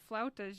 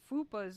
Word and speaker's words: flautas: Mexican restaurant and I ordered flautas. You're like, you ordered what? And then you tried to pronounce it and it came up like fupas or some shit.